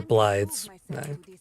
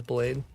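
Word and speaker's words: Blaidd: Or Blide's. I always mispronounce it as Blade.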